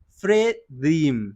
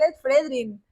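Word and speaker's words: Fredrinn: ¿Cómo sería la pronunciación? Fredrin. Fredrim. Dream. Fredrim. Miércoles. Fredrin. Dios, no es tan difícil. No es tan difícil, es Fredrin.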